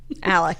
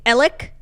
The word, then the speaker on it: Alex: And they actually don't even say Alec. They say Alec. I find like the names in this trial to be the most infuriating part. Like Alex Murdaugh is how it's spelled, and everyone's like Alec Murdaugh.